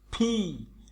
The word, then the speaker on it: P: Okay, I, আই, আই রস্যই লিখেছে প্রায় আয়ের মতো উচ্চারণ, 29টার মতো। আই, জে, কে, এল। একটু মানে ভিতর থেকে শব্দটা আসবে। ও, ফি, আমরা এতদিন পড়েছি পি, পি না, পির উচ্চারণ সবসময় ফর মতো উচ্চারণ।